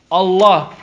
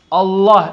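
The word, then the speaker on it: الله: in Sultan Fatih ha is love Fallujah lalala Allah Allah everyone say Allah Allah Allah Allah it's a lot ok it's pronounced with a round land Allah Allah who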